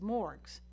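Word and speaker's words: MMORPG: multiplayer online role-playing games which I'll pronounce as morgues that are inherently public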